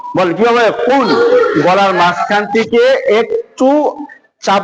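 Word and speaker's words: قُلْ: বিসমিল্লাহির রাহিম কুল ইয়া আইয়ুহাল কাফিরুন কুল ইয়া সুন্দর করে উচ্চারণটা বড় কথা উচ্চারণটা কেমনে হবে কুল বলেন কিভাবে কুল গলার মাঝখান থেকে একটু চাপ দিয়ে একটু ঘুরিয়ে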